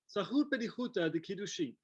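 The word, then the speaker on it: Tzahut Bedihuta de-Kiddushin: I think I need some help with the pronunciation. Sure, Zahut Bedihuta de Kiddushin.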